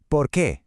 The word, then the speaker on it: por qué: The question is porqu. two words accent on the e. The answer because is porqu. All one word, no accent. So it's a little rhythm.